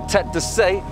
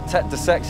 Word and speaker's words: Tête de Sey: and then there's the Tête de Sey right at the top, or Tête de Sex if you pronounce it wrong like me, and that's where the